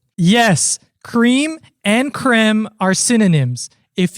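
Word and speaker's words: crème: However, it is still pronounced the same as the original French word. Yes, creme and creme are synonyms.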